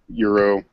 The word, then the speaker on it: gyro: Oh, I say euro. Euro. Euro. Like euro money, like current, like euro. I say like Euro. Yeah. Euro. I prefer just- gyro because that's what it's spelled, but I've never had one.